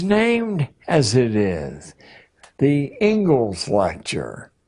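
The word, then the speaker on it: Inglis: as it is the Engles lecture looks like English but it's pronounced Engles and I would like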